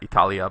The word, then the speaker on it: Italia: And what this is telling us in this note is that Italia by itself is a short a ending, Italy, and when you add in the preposition with it, you get a long a, in Italia.